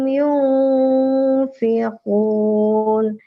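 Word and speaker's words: يُنفِقُونَ: Jangan yunfiqun. Nah, tapi dia agak ada satu ketuk lagi. Yunfiqun gitu. Yang lain? Ya, silakan. Ya, lanjut Bu. Ini kurang ditahan Bu. Ini ikhfa ya. Ikhfa harus sunnah bacanya. Harus didengungkan, maksudnya harus didengungkan.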